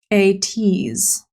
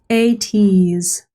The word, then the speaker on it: ATEEZ: ATEEZ. ATEEZ debuted on October 24th. ATEEZ. I kind of like the name ATEEZ because like it's like tease, like ooh, a tease.